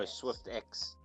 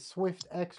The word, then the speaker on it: Swyftx: Oh, SwiftX.